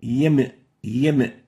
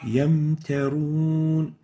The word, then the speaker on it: يمترون: Yamtarun, yam. This is wrong. The right way of pronouncing it is like this. يمترون Yamtarun. We don't say yam. So there should be no qalqala given to the meme.